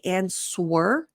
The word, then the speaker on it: answer: The amount of times I hear non-native speakers say answer, even though they've been speaking English for decades, it's okay. You didn't know you were doing it, but the W is silent.